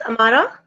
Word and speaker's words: Amara: Amara, am I pronouncing it correctly? It's Amara? Yes, ma'am, you're right.